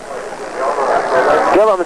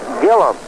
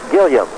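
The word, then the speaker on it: Gillim: against Lefty Keith Gillum Gillum spells his last name g i l l i m but pronounces it Gillum not Gillam here's the pitch to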